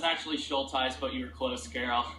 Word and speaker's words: Schultheis: Schultheis. Did I pronounce that right? It's actually Schultheis, but you were close, Carol.